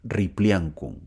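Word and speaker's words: Ripliancum: a las aguas de ripli ancun así se pronuncia ripli ancun donde otra vez es herido kantur este hombre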